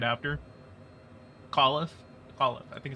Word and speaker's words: McAuliffe: Everyone was just kind of like, oh yeah, McCoffee is, I think it's McCoffee.